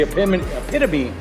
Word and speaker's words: epitome: to the community, and you guys are the epitome of that.